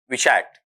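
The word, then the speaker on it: vitiate: यहां उच्चारण इसका वीटियट, वीसीएट नहीं बल्कि विषैट। विषैक्ट ऐसा रहेगा आपका वहां पर।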